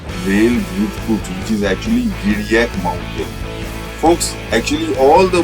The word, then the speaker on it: Giriyak: You have to take the real names which are existent today, and this mountain is called Giriyak, mispronounced by Zhang as Ki-li-tho-kiu-cha.